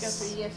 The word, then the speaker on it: Guthrie: Guthrie, yes.